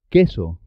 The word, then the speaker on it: queso: Y la U no suena en este caso. Que, qui, queso, por qué, 15, paquete, química, por qué.